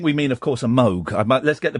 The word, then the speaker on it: Moog: love to an instrument it would be a mve because it's got I think we mean of course a Moog I let's get the pronunciation correct Let's uh